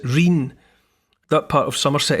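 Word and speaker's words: rhyne: world are called Rings the word is spelled like the river Rhine but they pronounce it rain that part of Somerset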